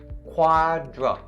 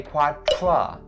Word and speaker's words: quadriplegic: So the first point that we're talking about here is upon the second syllable. Dra. Quadra. Please don't say quadra, because that's the voiceless consonant TR sound. But in this case, it's a voiced consonant DR sound, so dra, quadra. And then plegic as the last 2 syllables of the first one. Plegic. Ple has its vowel as the long E sound, so ple, don't say play.